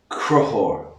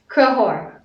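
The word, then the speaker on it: Conchobhar: In Irish, Crohor. Crohor. Crohor. Crohor. Which is the Irish version of Connor. So Connor's a pretty common name. Most people know Connor. If you want to call Connor in Irish, call him Crohor.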